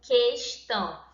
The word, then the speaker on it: questão: E aqui em questão é como se eu pronunciasse o que e o juntos, certo? Questão. Ou seja, na forma escrita, escrevendo questão, certo? São diferentes, mas pronunciando é como se eu tivesse apenas um som, duas letras e apenas